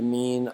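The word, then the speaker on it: μ: and a u together it's pronounced me kind of like M and U it's actually a Greek letter and you write it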